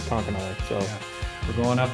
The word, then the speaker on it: Conconully: You know, I've heard it pronounced eight different ways from Sunday, so it's something. It starts with a C. I trusted my robot overlords, Google, to tell us what how to say it, and they said Conconully.